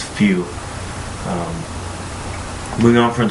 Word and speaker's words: feu: word fire which is spelled feu which is pronounce few um moving on from its brief history I'll